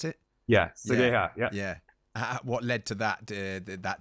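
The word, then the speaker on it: Seigaiha: Is that how you pronounce it? Yeah, Sagaya.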